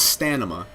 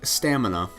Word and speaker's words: stamina: So, to that end, there are some individuals who believe the correct pronunciation of stamina is stanima. I mean, they're wrong, but that's how they feel.